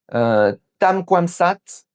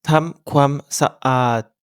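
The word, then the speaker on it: ทำความสะอาด: Ici, Marc voulait dire tam kwam saat, littéralement faire du propre. Mais il a fait la liaison et il a fusionné les deux syllabes en un seul son fluide. Résultat, il a dit sat.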